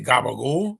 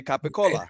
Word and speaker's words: capicola: Like they don't say gabagool. No, they say capicola.